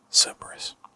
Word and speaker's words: Cerberus: in the secondary form, pronounced as the Greek word Cerberus.